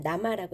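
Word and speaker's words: 生: 여러분 좋아하시는 남아비 이름 이제 쌩이 들어가면 나마라고 읽으시면 되죠 자 다음 메뉴판 한번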